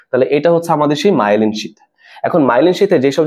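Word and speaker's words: myelin: ঠিক আছে, এই আবরণটার নাম কি বলতো, মায়েলিন শীথ। ওকে, তোমাদের বই মনে মায়োলিন লেখা না, আসলে সঠিক উচ্চারণটা কি, মায়েলিন। মায়েলিন শীথ বা মায়েলিন আবরণ। ওকে, মায়েলিনটা সঠিক উচ্চারণ, মায়েলিন।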